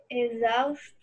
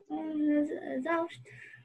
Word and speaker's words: exausto: Exausto. Não, peraí. Continua, Isabelle. Exausto. Exaustores. Exaustores, é o sonzinho do Z.